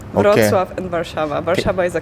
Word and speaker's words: Wrocław: And the pronunciation of like my city, it's Wrocław. Wrocław and Warszawa.